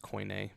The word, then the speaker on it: Koine: I think it's pronounced koine, but I don't know that. Koine. Yes, just like that.